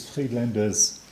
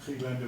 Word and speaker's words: Friedländer: This is her married name, Friedländer with an umlaut. This is her maiden name, Friedländer, pronounced exactly the same but with an AE ligature.